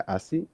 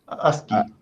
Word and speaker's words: ASCII: esto del ¿cómo se pronuncia? ASCII, ASCII.